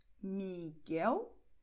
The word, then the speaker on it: Miguel: Preste atenção que no caso de GUE, GUI, a letra U, ela é escrita, mas ela não é pronunciada. Miguel, Guilherme.